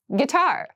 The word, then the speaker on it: guitar: casual clothing casual clothing guitar guitar this word has kind of an interesting spelling it starts with GUI but we pronounce this as git so a guitar is